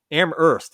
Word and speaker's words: Amherst: no no actually it's amherst isn't it i think i think that's one of those cities where you don't pronounce the h i think it's a silent age it's amazing either way yes amherst massachusetts by hardcore punk